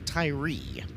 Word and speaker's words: Tyree: Joshua Tyree is the pronunciation on outside row number 2. So looks like the Australian version of Tyre. It is Tyree.